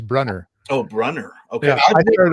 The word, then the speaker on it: Brunner: Oh, John Bruner coming up on the speculative reader. That That sounds fantastic. Oh, that's the German pronunciation. I think he's English, so I think I think it's Brunner.